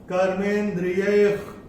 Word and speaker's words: कर्मेन्द्रियैः: का अक्षर है क, और विसर्ग के बाद अगर क या ख आता है तो विसर्ग का उच्चारण होगा ख फ्रॉम द एपिग्लॉटिस। तो इसको हम कैसे करेंगे? कर्मेन्द्रियैः कर्मयोगम्, कर्मेन्द्रियैः कर्मयोगम्।